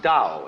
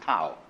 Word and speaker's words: Tao: call Tao that's pronounced Dao if it had an apostrophe after it it would be pronounced Tau but thou is more